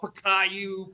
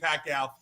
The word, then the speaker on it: Pacquiao: a time when uh Larry Merchant would pronounce his name wrong right you know payou piaia and then all of a sudden everybody knew the name Manny Pacquiao but it took development